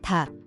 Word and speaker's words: 닭: So, for instance, chicken is 닭, and L in the cluster is silent, while S for chicken is concerned as 닭은, pronouncing not only G but also L.